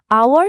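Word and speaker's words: hour: আওয়ার শব্দটা এইচ দিয়ে শুরু হলেও উচ্চারণের সময় এইচ সাইলেন্ট থাকে।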